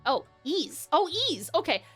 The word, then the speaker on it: Ys: YS, pronounced like geese without the G. Oh, Ease.